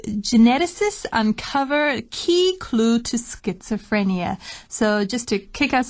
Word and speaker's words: schizophrenia: i said that word wrong but it is pronounced schizophrenia and it's the definition we have in our